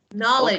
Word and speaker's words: knowledge: Yes, Knowledge. okay. Pronoun, please, please don't pronounce K.